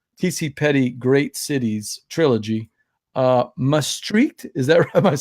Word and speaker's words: Maastricht: great so I say must reach because that's kind of like the like using the CH at the end because that's kind of like the local pronunciation they have their own